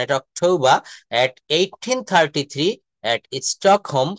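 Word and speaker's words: Stockholm: এট 1833 এট স্টক home এখানে এলটা কিন্তু silent স্টক হলোম না এখানে home H ও এম এল কিন্তু এখানে সাইলেন্ট লেটার অর্থাৎ 1833 সালের 21শে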